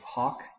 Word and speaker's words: hoc: we get hick hike hawk who is listen to the difference there between the long o and the short o the neuter accusative singular hawk the neuter ablative singular